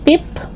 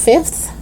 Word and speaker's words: fifth: chicken broth wreath okay fifth it's not pip it's fifth teeth it's not teeth but